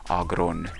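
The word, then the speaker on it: Aggron: is going to take him out I it's Agron but I kind of like pronouncing it Aon it kind of sounds powerful uh going back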